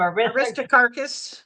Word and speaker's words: Aristarchus: Aristarchus.